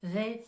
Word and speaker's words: they: à répéter plusieurs fois they think le TH de the il est plus prononcé on va mobiliser les cordes vocales tandis que le TH de Think il va être plus doux donc je vous répète they